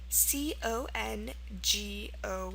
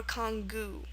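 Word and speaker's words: congou: It's actually Chinese. Um, and it's pronounced congo or congu. Okay, so two pronunciations there.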